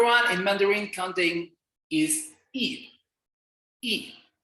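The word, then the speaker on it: 一: in mandarin counting is e note that y is silent so you only read the letter i here e i you pronounce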